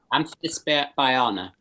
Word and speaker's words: Amphisbaena: Amphisbaena. Amphisbaena. Okay, it's not so tough. Because for me there's like a AE, it's like an Amphisbaena, I want to say, but it's Amphisbaena.